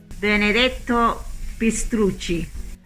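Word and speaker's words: Benedetto Pistrucci: pronounce his name properly enzza how do you pronounce that benedetto pist thank you uh would have been made on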